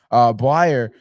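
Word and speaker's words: Bleier: Blyer.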